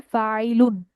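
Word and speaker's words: فاعل: আমাদের যে এসেম ফাইলটা সেটার উচ্চারণটা হবে হুবুহু ফাইল শব্দটার মত। ছোট ফ্যামিলির যে ইসেম ফাইলটা আমরা লিখবো সেটা হুবুহু উচ্চারণ হবে বা রাইম করবে বা ম্যাচ করবে হচ্ছে ফাইলুন বা ফাইল শব্দটার সাথে নাসারা এখানে আমাদের রুট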